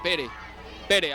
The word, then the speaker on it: Pere: catalán, realmente se llamaba Pere, así se dice Pedro en catalán, Pere o Pera, se escribe, pero Pere, Pedro espera.